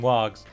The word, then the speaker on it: warg: done indeed note that I swapped between wargs and wags pronounced it how you will and 246 Nazca